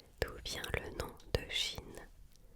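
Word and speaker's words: Qin: D'où vient le nom de Chine ? Chine s'est appelée ainsi après la première dynastie, la dynastie Kin dont le nom se prononce Chin.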